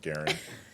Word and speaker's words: Garand: Do you even more appreciate the T-shirt actually it's pronounced Garen?